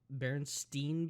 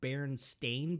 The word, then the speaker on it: Berenstain: kid uh the uh berenstain bears or whatever like that bernstein bears apparently it was never uh berenstein bears it's berenstain bears yeah bernstein or bernstein